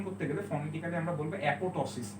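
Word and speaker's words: apoptosis: যদিও এটার উচ্চারণ অ্যাপোপ্টোসিসের মতো, কিন্তু উচ্চারণ করতে গেলে ফনেটিক্যালি আমরা বলবো অ্যাপোটোসিস, এই পিটা সাইলেন্ট থাকে, ঠিক আছে?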